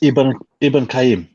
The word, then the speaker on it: Ibn Qayyim: How do you say it? Ibn Qayyim. It's Ibn Qayyim. Ibn Qayyim. Yeah. Qayyim. Yeah. Okay, Qayyim. All right.